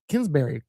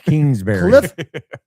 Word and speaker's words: Kingsbury: Like we need someone like like like Cliff Kinsbury how do you say his name? Cliff Kingsbury.